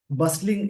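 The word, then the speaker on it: bustling: पे लाइन को समझेंगे बसलिंग ये वर्ड एडजेक्टिव है इसको बसलिंग बोलेंगे यहां पे टी साइलेंट होगा बस का मतलब होता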